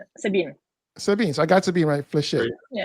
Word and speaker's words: Sabine: You don't pronounce the T, Sabine.